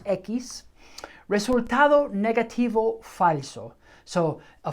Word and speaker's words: equis: de papilloma umano okay rayosekis ekis that's how we pronounce x rayos equis resultado negativo falso so